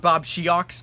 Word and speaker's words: Bobsheaux: It's spelled Bobsheaux, but his name's Bob Thomas. It's, for some reason, said Bobsheaux.